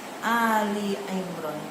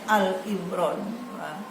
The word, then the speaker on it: Ali Imran: Ketiga surah Ali Imran. Jangan salah ya membacanya Al-Imran. Sedangkan Ali itu keluarga Imran sampai 114 surat.